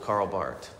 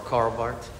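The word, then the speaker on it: Karl Barth: the church dogmatics or Carl Bart okay yeah the H is silent just as you pronounce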